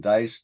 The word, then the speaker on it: Deis: My last name is spelled D-E-I-S, but it's pronounced Dice, like the kind you roll.